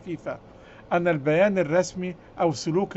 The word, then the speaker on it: فيفا: تحذيرا فقط إذا اعتبرت الفيفا الفيفا الفيفا الفيفا النطق الصحيح بتاعها فيفا أن البيان الرسمي أو